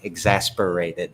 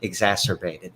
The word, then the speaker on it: exacerbated: And now it's, I can't say that word, exasperated, I think is pronounced. Exacerbated, thank Yes.